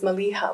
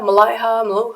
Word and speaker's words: Maliha: came from because most people couldn't pronounce my name right they were like Malia Malaya they just couldn't do it and uh finally a lot of people started saying Malia okay and I'm like hey